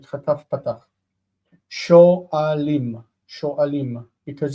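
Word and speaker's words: שואלים: Sho'alim, because the aleph doesn't want a vocal shva as simple. It needs to be, vocal shva needs to be compound.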